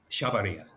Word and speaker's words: Chavarría: Carlos Chavarría.